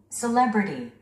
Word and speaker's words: celebrity: 우리 한국인들은 이 단어를 셀리브리티라고 합니다. 그런데 원어민들은요? Celebrity. Celebrity. 스트레스가 이음절에 오고 있습니다.